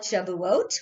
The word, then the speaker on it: Shavuot: it and you may I call it Shavuot which is the Hebrew pronunciation you may call it